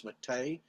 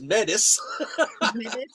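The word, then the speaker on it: Métis: I feel so inadequate because I'm what they refer to as Matei, and it's pronounced in different ways. Down south, I was being introduced, and somebody just read the words, and they said, and here's Chief Mel, who is Metis.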